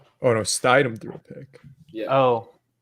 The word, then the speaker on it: Stidham: That was a bimodal pronunciation right there. Is it Stidham? Yeah. I think I think so. it's Stidham, yeah.